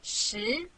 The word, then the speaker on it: 十: This is its syllable 十.